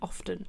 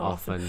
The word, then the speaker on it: often: Like when people say, like they really make a point of not pronouncing the T and off, like often. Do you say often or often, yeah. And they go often, and you're like, yeah, you can pronounce a T.